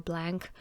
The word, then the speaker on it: Blanc: this one is called blanc or blank however you want to pronounce it some say it the more french way others say it or really like american english way like it's totally up